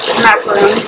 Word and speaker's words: macaron: it's coconut macaroons when it's like an American product, but the French pronunciation is macaron.